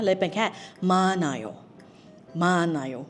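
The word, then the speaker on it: 많아: มา ค่ะ มาน มาน ออก เสียง ว่า มาน เพราะ ว่า ตัว ฮี อึด ไม่ ออก เสียง นะ เลย เป็น แค่ มา มา มี เยอะ มี มาก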